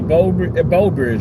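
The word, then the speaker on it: Breaux Bridge: That um Bro Bridge uh the Bo Bridge, right? That's how you pronounce a bow bridge. like bow like bow and arrow but it's spelled B R E A U B.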